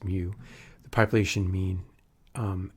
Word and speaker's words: mu: here and then mu and that's how it's pronounced mu the population mean um n equals sample okay